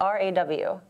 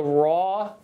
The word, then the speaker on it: RAW: for me to learn raw or is it our aw it's it's raw raw are you shooting both